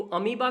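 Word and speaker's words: amoeba: बट अगर आपको इसे प्रोनाउंस करना है तो इसे अमीबा पढ़ते हैं, गॉट दैट।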